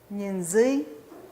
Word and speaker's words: Ñenzui: Ñenzui. Entonces el acento cae en la segunda sílaba, o estar arriba, jañi.